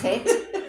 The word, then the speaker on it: Chet: So you have chet as in Bach.